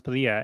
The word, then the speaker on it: Padilla: Well, then a family moved from Texas, Texas or Oklahoma, one or the other, and their last name was Padilla, and they pronounced it Padilla.